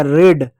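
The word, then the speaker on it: read: से होगा ड होगा रेड रेड मींस होता है लाल बच्चे कहते है रेड की स्पेलिंग तो यह होती है बच्चों यह रेड नहीं होता है यह रीड होता है रेड मींस पढ़ाना जैसे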